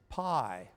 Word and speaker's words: π: Now that P is called for this purpose pi. Pi is the Greek version of P. In fact, in Greek, you pronounce it P, not pi, right?